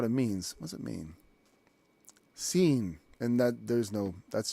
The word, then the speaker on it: Sin: just what it's called they spell it differently to help you out with it because it's not spelled sin either it's and actually that's a long e sound seen especially in the Hebrew if you look at